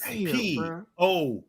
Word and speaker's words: posthumous: POSTOMOUS. Posthumous. That's wrong. That is incorrect. It is POSTUMOUS.